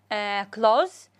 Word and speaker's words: clothes: هسه هنا عندي سواء هنا كلوز ملابس، التي اتش ما تلفظ او تلفظ بشكل خفيف.